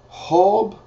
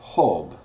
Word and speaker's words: Job: nemas Esther is eser hob is or job is hob spelled exact same way just said instead of the J it's pronounced as H hob Psalms is salmos